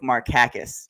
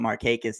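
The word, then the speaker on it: Markakis: sure this is true I'm pretty certain that it's actually pronounced Nick marakis in the Greek and Nick being a quiet guy never bothered to correct anybody so we always called him Mark hius he was like whatever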